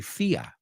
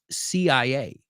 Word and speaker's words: CIA: The CIA director says, and remember, in English, we don't say FIA. It's CIA.